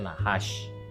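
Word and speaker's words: נחש: itu naas tentu saja Ingat tidak ada huruf vokal disana karena ini berani Tapi bacanya nahas Nun Hz the sign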